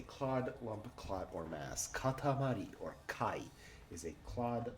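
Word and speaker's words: 塊: Katamari is a clod, lump, or a mass. Katamari. Katamari is a clod, lump, clump, or mass. Katamari. Katamari. Hokani, kai. Are our 2 pronunciations.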